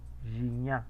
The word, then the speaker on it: Gignac: Guiñá. Gignac. Gignac, así se pronuncia el apellido de este jugador. Pero aquí tenemos pues el uso de la G y la ñ en la pronunciación francesa.